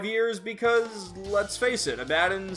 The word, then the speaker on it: Abaddon: King Abaddon. Longtime viewers of my channel may know that I've been saying Abaddon for the past 5 years because, let's face it, Abaddon sounds stupid.